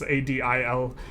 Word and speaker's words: Adilbek: I'm sorry, I don't know these Turkish pronunciations. It's Adilbek.